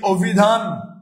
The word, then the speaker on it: অভিধান: যদি বলি অভিধান। যদি বলি অভিধান। যদি বলি অভিধান এই অভিধানে গেলে ভাইয়া আমরা অটাকে কি উচ্চারণ করছি ও এর মত উচ্চারণ করছি ও ভিধান এটা লিখছি